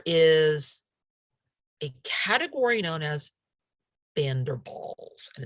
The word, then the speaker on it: van der Waals: a category known as bender balls and it's pronounced as if it were both both a v for the van and a b for the w-a-a-l-s because it's a german word so uh if if